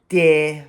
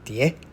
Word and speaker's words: 跌: However, in Taiwan, it's often pronounced with the second tone, dee.